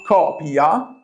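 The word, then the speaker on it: coppia: If I say copia which means copy, what do you answer? Yes, you double the P in copia. Copia means couple.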